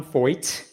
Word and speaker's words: Feucht: It's pronounced fo rhymes with exploit.